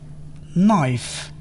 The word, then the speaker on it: knife: hangover, Silent K. K is not pronounced when followed by N at the beginning of a word. knife, Knee, no, knock. knowledge, Silent L.